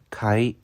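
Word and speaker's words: 海: 바다 의 발음 은 ' 카이 ' 입니다 .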